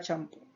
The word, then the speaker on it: champú: Tenemos la palabra camión, la palabra compás, la palabra champú. Si nosotros observamos estas tres palabras que tenemos en pantalla, son aquellas que tienen su mayor fuerza de voz en la última sílaba.